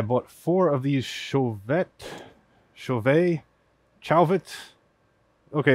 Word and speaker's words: Chauvet: four of these chauvette chauvet chalvet okay if you're american it's probably like chalvet if you're french it's chauvet i'm gonna go with chauvet i don't know how